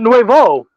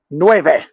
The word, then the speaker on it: nueve: she's been living the way they okay not Nuevo yes okay great nueve let's go franchise which sci-fi video game franchise